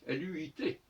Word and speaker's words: luit: Parce que, comme il a dit, si night vient de nuit, eh bien light vient de lui, L-U-I-T, qui doit se prononcer luit, luit.